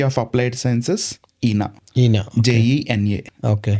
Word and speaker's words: Jena: University of Applied Sciences Jena Jena JENA okay spelling so they pronounce it Jena .